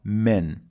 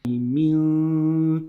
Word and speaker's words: من: We are not gonna pronounce this noon clearly as I pronounce it now when we are reading Quran. I said now men. I want you to pay attention to how Sheikh Ibrahim pronounce it.